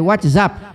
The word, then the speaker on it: WhatsApp: pessoa Boba sou inteligente porque isso é inglês e a pronúncia é Whatsapp Whatsapp como eu sei que é inglês eu prefiro pronunciar ente respeitando a língua inglesa na Inglaterra não passou